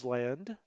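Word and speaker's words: Ísland: it's called island now i just said island because it's spelled just like ireland right except for the uh the little tilde up there but it's actually island that's what the norse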